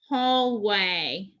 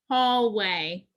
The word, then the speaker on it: hallway: have digraph a y the a makes the long sound the y is silent so the second word is a put it together and we have hallway hallway great job number 19